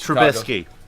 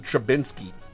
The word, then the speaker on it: Trubisky: So Mitch, the guy whose name none of you motherfuckers can pronounce correctly, is Trubisky. Yeah, but they call him Trubinsky.